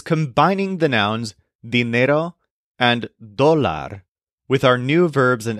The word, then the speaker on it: dólar: For counting amounts of money, you might want the word dólar, which means dollar. This is spelled D-O-L-A-R, with an accent on the O.